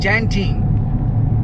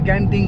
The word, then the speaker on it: Genting: উচ্চারণটা অ্যাকচুয়ালি জ্যান্টিং, অনেকে গ্যান্টিং কয়। Left side Genting Highlands or car is left side to go.